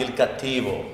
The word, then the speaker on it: Il Cattivo: How do you say it properly? Il Cattivo. That's much, much better. Much better.